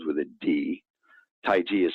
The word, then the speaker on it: Taiji: course brown said as Taoism you know and Taiji which is Tai Chi Chuan the thing that people do is actually that the word c-h-i is supposed to be trenton to be pronounced as ji yes Taiji but who would know that so most people